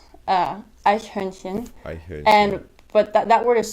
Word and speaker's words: Eichhörnchen: Eichhörnchen. And it's Eichhörnchen. And but that word is so hard to pronounce when you're first studying it, so it sounds like Eichhörnchen.